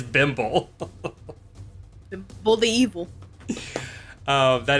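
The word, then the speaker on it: Bimble: do you spell that b-i-m-b-l-e okay okay bimbo like thimble but all right bimbo oh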